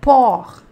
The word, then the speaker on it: porc: temos o porco né então a gente fala-lhe Pour tá bom Lan pó não pronuncia você tá bom Pour le pó é